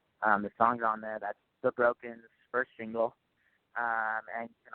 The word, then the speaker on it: THEBRKN: It's The Broken. It's THEBRKN is how it's spelled.